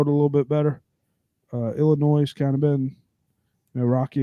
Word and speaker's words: Illinois: And by the way, Illinois, it has an S on it, but the S is silent, guys.